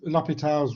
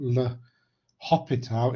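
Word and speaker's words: L'Hôpital: that trap and because lopital's rule is named after frenchman the h in l'hopital is silent it's not le hopital it's lopita and we can use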